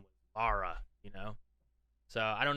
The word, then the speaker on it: Lara: not really question how do you guys americans pronounced laura croft i always hear laura when any american says it sorry to be